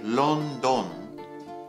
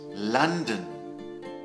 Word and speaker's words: London: So be careful not to say London. London, London.